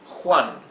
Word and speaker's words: Juan: okay so for example the name Juan here u a n letter j or H is not like the English H soft sound smooth no it's H it's a rougher sound